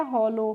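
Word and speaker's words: hollow: को पढ़ेंगे लो और यहां पे जो डब्ल्यू है इसका प्रोनाउंसिएशन हम नहीं करते हैं। जैसे एफ O double L ओ डब्ल्यू होता है तो उसको हम फॉलो पढ़ते हैं। फॉलो करके नहीं पढ़ते। वहां पे भी देखिए हम आपको ध्यान रखना है ओ के बाद डब्ल्यू आ रहा है तो वहां पे हमें ओ डब्ल्यू का प्रोनाउंसिएशन नहीं करना है। यानी कि डब्ल्यू साइलेंट रहता है।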